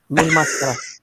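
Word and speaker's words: Mil Máscaras: Mil Mascaras or Mascaras or how do you say Oh, it? The Mil. Mask Man? Mil. Mil máscara.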